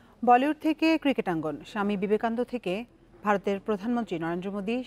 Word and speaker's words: বিবেকানন্দ: বিবেকানন্দ হয়ে যান বিবেকামন্নন, সেই ভিডিও ভাইরাল হতেই টুইটারে হাসির রোল ওঠে ট্রাম্পকে নিয়ে।